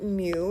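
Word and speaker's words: μ: the normal force okay this mu is probably something new so this is pronounced Mew it's another Greek letter and the S is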